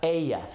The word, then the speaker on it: ella: Remember that double L right there is a Y, so it's pronounced ella.